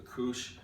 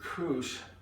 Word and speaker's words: couche: What you want to do, and this is what I found, you know, we're going to use what is, I think they pronounce it as a couche, and a couche is a linen cloth that you're going to use later.